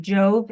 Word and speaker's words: Jove: Is it Jove? Is that how you pronounce his name? Yes. So it's Mr. Jove for the 2nd and